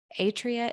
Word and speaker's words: Atria: And I want to pronounce it right. Is it the Atria Institute?